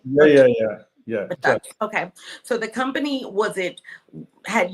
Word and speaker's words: JUXX: And when you said the business, so the company, and it's JUXX, right? Am I pronouncing it right? Yeah. JUXX.